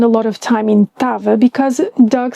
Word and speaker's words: estava: I'm not going to spend a lot of time in tava because Doug said it all. It's estava pronounced without the first syllable.